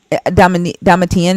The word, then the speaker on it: Domitian: Yeah, Domitian. Yeah. Domitian, is that how you say his name? Yeah.